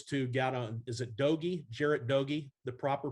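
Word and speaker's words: Doege: jarrett though those two got on is it dogie jarrett doggy the proper pronunciation there dagi is the problem okay my my mistake there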